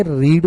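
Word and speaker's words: read: ये यहाँ पे मैंने रीड बोला क्योंकि ये बेस फॉर्म में था, तो जब हम इसको पैसिव में करने जाएंगे तो यहाँ पे हमारा स्पेलिंग तो वही रहेगा, पर वहां पे हमें पास्ट पार्टिसिपल फॉर्म ही यूज करना है, तो उसको मैं रेड ऐसे प्रोनाउंस करूंगा, तो मेरा सेंटेंस बन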